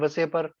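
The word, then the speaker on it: VSEPR: देखो इसको आप कुछ भी बोल सकते हो, वसेपर, कुछ लोग बोलते हैं इसको वसेपर थ्योरी, है ना, कुछ लोग इसको पूरी स्पेलिंग बोलते हैं।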